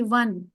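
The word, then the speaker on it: won: is pronounced as डब्ल्यू ओ एन इट is pronounced as ओ एन ई वन okay वन the game what a beautiful sunset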